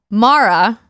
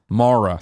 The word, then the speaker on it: Mara: Greg's had it wrong it's Mara Mara sort of like Marv I got it again I went to school with a girl I won't say her first name but Mara is how you pronounced it there tonight I've always got to remember that girl was wrong mara yes got it Greg if it helps it's pronounced the same way as the Mara from the Shin Megami Tensei series it does not